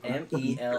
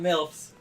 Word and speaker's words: Melf's: M-E-L-F-S. Pretty sure you're saying that wrong. It's not Milf's. It's Melf's.